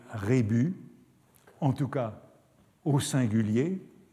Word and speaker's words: rébus: on sait bien que on a toujours du mal avec regus sans savoir s'il faut prononcer le s ou s'il faut le laisser muet il y a tout un débat à ce sujet n'est-il pas plus exact de dire rébus en tout cas au